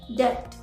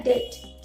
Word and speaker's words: debt: क्योंकि आप बोलोगे बी है तो हम तो बी प्रोनाउंस करेंगे ही ना, बट है ना वो डेप्ट नहीं होता है। उसको क्या बोला जाता है? डेट।